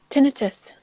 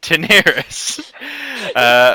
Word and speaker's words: Daenerys: Tinnitus. Tinnitus. Daenerys. Yes, Daenerys, who we kept mispronouncing his name as Tinnitus, mostly because I